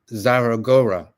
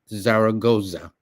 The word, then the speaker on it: Zaragoza: it was this general, this young general, Ignacio Zaragora.